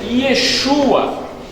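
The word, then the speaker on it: ישוע: E em hebraico, o nome Iesus é pronunciado ou como Yehoshua, ou algumas pessoas preferem a pronúncia Yeshua.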